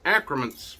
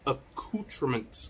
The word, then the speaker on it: accoutrements: okay now at first i thought it was acromense but it's actually pronounced accoutrements okay um hemingway accoutrements okay um now they